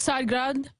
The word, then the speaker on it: Tsargrad: How do you pronounce the name of the TV network? And there it is on screen. It's called Tsargrad TV.